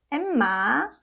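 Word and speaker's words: 엠마: So first one is silent, right? So it doesn't have sound. And next one, this is e vowel plus m sound, m. And the next one, m sound again, and a, ma, emma, emma.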